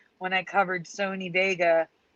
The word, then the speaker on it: Wega: Like when I covered Sony Vega, is now Wega, pronounced Vega, but it's spelled W now.